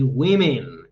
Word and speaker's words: women: that's incorrect we say women exactly be careful with the pronunciation women that's the right pronunciation women sheeps okay i